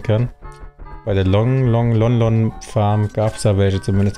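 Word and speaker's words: Lon Lon: aufmachen kann ja ich habe immer long long Farm gesagt aber jetzt wo ich weiß dass das von Malon Talon abgeleitet wurde muss ich wohl akzeptieren dass es doch lonlon Farm ausgesprochen wird was ich trotzdem sehr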